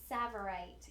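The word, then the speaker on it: tsavorite: always butcher the name savorite right it's a silent te savorite you guys okay so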